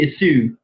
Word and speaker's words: issue: Anh lại cứ nghĩ là cho âm rơi vào số 2 cơ.